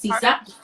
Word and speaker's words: CISA: Am I saying it correctly? It's CISA.